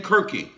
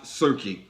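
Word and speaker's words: Circe: rather you will find the name kirky sometimes pronounced serkey who is serki or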